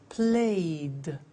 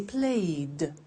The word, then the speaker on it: played: So, the pronunciation of ed becomes D. It becomes played. Again, we eliminate the E. We say played, cleaned, studied, closed, snowed.